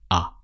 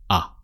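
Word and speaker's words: à: So just the sound ah. You can see there is an accent but it doesn't change a sound in French. It's just ah.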